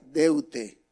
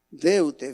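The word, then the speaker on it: δεῦτε: en el griego original es una palabra que se pronuncia de ute deutsche venir deuda pero saben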